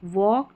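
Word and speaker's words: walk: एल के ऑक वॉक टॉक चॉक। सी एच को च पढ़ना है। सी एच को च एल के को आपको पढ़ना है ऑक एल यहां पर साइलेंट है।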